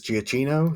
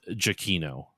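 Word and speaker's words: Giacchino: I've always heard it as GCino. So, Gino. Um, oh, so according to Wikipedia, it's Jakino.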